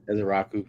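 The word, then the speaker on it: Ezeiruaku: I just like I think it was Ezeraku. That's how you say it from Boston College. Ezeraku.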